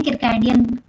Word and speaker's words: circadian: है जिसको अपन बोलते हैं, आई गेस उसका प्रोनाउंसिएशन है किरकैडियन, किरकैडियन रिदम, ऐसा कुछ प्रोनाउंसिएशन है, CIRCADIAN रिदम, ठीक है।